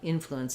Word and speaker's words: influence: saying um in uh influence is stressed on the first syllable as well.